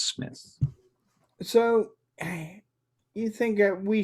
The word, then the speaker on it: Smith: people pronounce it Smythe, but it's not. It's Smith.